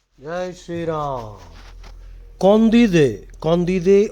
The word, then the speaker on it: Candide: Condide or Candide. In English, you are likely to pronounce it Candide because the spelling is Candide.